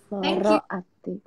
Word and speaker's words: Lara Ati: sedari secara rinci dan memang yang paling bener dibacanya Oh begitu Loro Ati informasi itu itu tadi juga ada ada juga